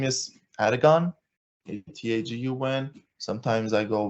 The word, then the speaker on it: Atagun: cannot I can understand so my name is Aragon a t-a-g-u-n sometimes I go with ATA how can people not pronounce that one that one's simple as hell